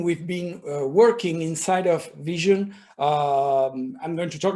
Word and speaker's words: VSHN: so first of all how do you pronounce the name Vision like just like the word Vision so it's very simple